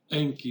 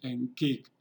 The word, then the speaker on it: Enki: como dice abajo, dice enkik. Cuando no le sigue una vocal, se pronuncia enki, pero si le sigue una vocal, se fusiona la e más la k de la última consonante de enki.